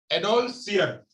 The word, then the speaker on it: adolescere: जो है वह है एडोलसियर, ADOLESCERE, एडोलसियर, इससे निकला हुआ है ये एडोलसियर। एडोलसियर, इसको हिंदी में अगर बात करेंगे, इसका उच्चारण कहेंगे तो उसे कहेंगे एडोलसियर।